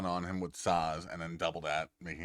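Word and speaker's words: Sazh: with Saz, not Shaz. Saz. Well, David, is that how you pronounce it?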